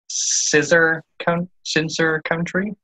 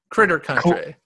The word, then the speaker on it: Critter Country: Which is, I guess, if I pronounce it correctly, Scissor Country? Close. Critter Country.